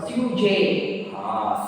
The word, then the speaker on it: sujet: Sujet. Sujet. Because already I told this letter G. Individually you pronounce G, but in a word it will be pronounced J.